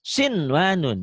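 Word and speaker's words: صِنْوَانٌ: Nah, maka harus dibaca kinwanun, sinwanun, dunya, bunya. Tidak dibaca idgham.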